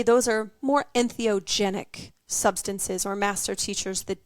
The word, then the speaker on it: entheogenic: yeah so did I say it right yes entheogenic so when you think of empathy right when